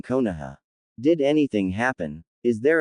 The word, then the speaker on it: Konoha: Any news from Koniwa? He asked, mispronouncing Konoha.